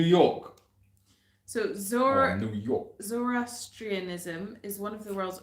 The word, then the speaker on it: zoroastrianism: scholars believe zor zorro how do you say it zoroasterism oh yeah zoroastrianism zoroastrian yeah influence the belief systems